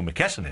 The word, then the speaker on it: McKesson: oh mcken geez okay now I know who McKesson is so just had to pronounce it properly so McKesson they are a